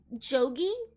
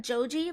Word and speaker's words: Jogi: is, as a villain, I think Kazuma's name as a villain is Jogi and not Joji, like I've been saying, because in the sub they said Jogi, and I think it's a pronunciation thing, but I'm gonna call